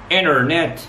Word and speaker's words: internet: طب لو جه قبلها in sound ما انطقهاش خالص اقول ايه؟ internet international.